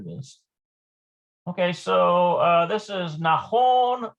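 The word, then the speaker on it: נכון: Okay, so this is Nahon or Lo Nahon. I'm almost certain it's Nahon.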